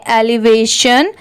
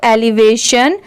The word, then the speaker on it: elevation: जैसे ELEVA इतना क्या हो गया, एलिवे। और TION इसकी साउंड कभी चेंज नहीं होती। अगर ये कहीं पर भी लिखा हो TION तो उसे शन ही पढ़ा जाता है। अब जब इन दोनों को मिला देंगे तो एलिवेशन।